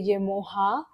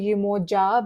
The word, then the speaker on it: Yemoja: I googled how you pronounce her name, and apparently some people say Yemoha, but some say Yemoja.